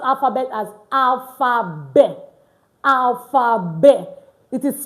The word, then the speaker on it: alphabet: Letter t and other consonant at the end of a word in French most times is not usually pronounced.